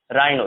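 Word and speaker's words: rhino: जैसे हम क्वायर पढ़ेंगे, इसे कोड पढ़ेंगे, ठीक है, ऑनेस्ट, आवर, ऑनर, स्कूल, एक, ठीक है, इको, केमिकल, क्रोम, राइनो।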